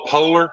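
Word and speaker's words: POLR: it right here this one's I call the polar this p o LR yeah you need when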